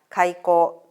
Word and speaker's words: 海幸: が描いた開口という作品です。海の幸と書いて開口と読みます。